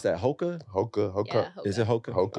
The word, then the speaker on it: Hoka: How do you pronounce that? Hoka? Hoka.